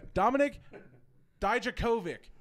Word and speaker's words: Dijakovic: Dominik Dijakovic.